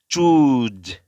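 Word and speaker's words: choose: সেখান থেকে আপনার হচ্ছে ফ্রিকশন দিতে হবে আর কি, এরকম zzz, zzz, মানে এরকম একটা শব্দ হবে আর কি, মানে যখন প্রোডাকশন হবে সাউন্ডটা চুজ।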